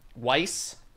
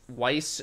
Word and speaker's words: Weiss: in the name schwarz how do you say the the squiggly b they say that it's like a double s weiss wise why is schwarz what weiss schwarz weiss okay white